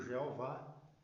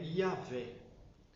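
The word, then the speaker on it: Yahweh: por isso que foi traduzido por Jeová que a letra J Só existe de 500 anos para cá outros traduziram eh por Javé Aliás a pronúncia mais correta hoje mais próxima é yavé agora o que que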